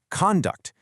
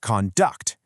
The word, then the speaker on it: conduct: The spelling of the word conduct stays exactly the same, but the stress completely changes the pronunciation depending on how you use it. If it's a noun, meaning your behavior, it's conduct. But if it's a verb, meaning to manage or guide an experiment, it's conduct.